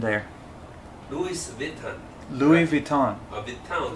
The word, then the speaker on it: Vuitton: Vuitton 重音在后面 Louis Vuitton，还有 Costco，很多台湾朋友会念成 Costco。